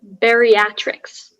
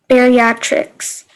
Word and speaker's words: bariatrics: and i'm in sixth grade your word is bariatrics bariatrics can i have the definition a branch